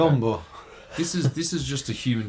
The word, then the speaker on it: Biyombo: Mason Plumlee and Bismack Biyombo. Well, I don't pronounce it like that. Biyombo.